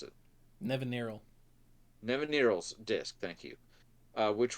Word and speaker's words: Nevinyrral: So for example, in white we have Magus of the Disc, call back to Nevernal. Somebody else pronounce it. Nevinyrral.